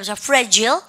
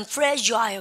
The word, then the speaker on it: fragile: 근데 미국 애들은 발음 갖다 fragile. 근데 영어 애들은 fragile 그래요.